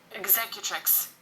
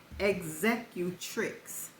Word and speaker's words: executrix: a will okay and here is how it's pronounced executrix oh executrix one more time executrix okay exe execut tric